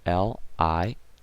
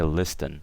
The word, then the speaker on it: listen: L-I-S-T-E-N. Obviously, the T is silent, guys, okay? So we never say listen, okay? We always say listen, okay?